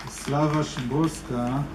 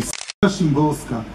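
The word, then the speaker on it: Wisława Szymborska: Slava Szymborska, I hope I said it correctly, because in Israel we said Slava Szymborska. I know it's not her name, but it's pronounced differently in Hebrew.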